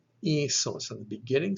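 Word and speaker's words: ἴσος: This word would be pronounced isos, isos.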